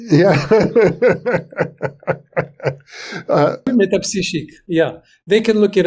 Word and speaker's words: Métapsychique: to look into the, I don't pronounce it the way you do, the Institut Métapsychique. Metapsychique. That's you said perfect. Yeah. Metapsychique.